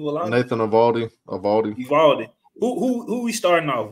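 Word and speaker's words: Eovaldi: Nathan Evaldi.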